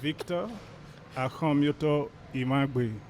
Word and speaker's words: Victor Akhomiotor Imhangbe: Please, can you pronounce the name very well? Yes, I will help you out. My name is Victor AKHOMIOTOR IMHANGBE.